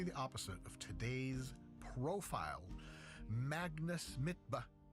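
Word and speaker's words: Magnus Midtbø: opposite of today's profile, Magnus Mitba, which is apparently how you say it in its original Norwegian, because you see, you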